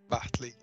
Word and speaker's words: Bartley: Como é que se pronuncia o nome do teu personagem, Silfer? Bartley. Bartley? Isso.